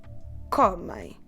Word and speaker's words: comem: But I'm not stressing the ending. I'm stressing the second to last syllable that on this particular word, because we only have 2 syllables, corresponds to the first one. So my pronunciation is comem. Comem. Please leave your mouth open at the end. Okay, that sound ein we have to do it with the mouth open. Don't close your lips.